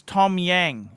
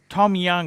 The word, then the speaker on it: Tom Yang: One guy I really love is Tom Yang. Tom Young, it's pronounced.